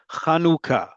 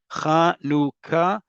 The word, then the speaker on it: Chanukah: Say it with me, folks. Chanukah. Chanukah. Chanukah. If you say anything other than that, I don't care how you spell it in English transliteration, you're wrong.